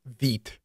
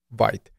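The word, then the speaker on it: Vite: more popular option called Veet and yes it is pronounced Veet not white now since you will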